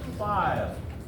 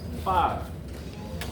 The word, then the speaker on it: Phi: We pronounce this one as Phi. Okay? Phi.